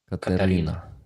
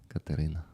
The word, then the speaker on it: Катерина: I think we need to teach all the world the Ukrainian way of names. Katerina. Katerina. With U.